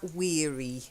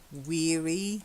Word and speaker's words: weary: of Shalott very good be careful of that weary again weary not weary okay okay I know doesn't it doesn't rhyme with Airy but you've got the